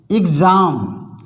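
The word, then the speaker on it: exam: कोई स्वर आए तो एक्स का उच्चारण गस पड़ा जाता है जैसे ई एक्स ए एम एग्जाम आधा ग और ज एग्जाम एग्जाम मीस परीक्षा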